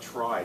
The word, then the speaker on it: trie: on what's called a try t-r-i-e also pronounced tree which is the proper pronunciation of it we'll get to that